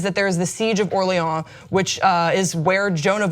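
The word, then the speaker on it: Orléans: Yes, because the French won the battle, so we're gonna pronounce it Orleans. We're not gonna say Orleans.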